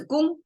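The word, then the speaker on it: 公: The right side, pronounced as gong, sounds like a sound maker, right?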